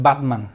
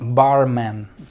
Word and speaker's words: barman: se usa barman barman no digas batman es barman qué significa barman barman